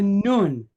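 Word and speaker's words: נון: Then we have a nun. So if we have a nun, any guess what sound that letter makes? An N sound, right?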